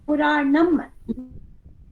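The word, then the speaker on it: Purāṇam: Puranam. No, Dirgha is not there.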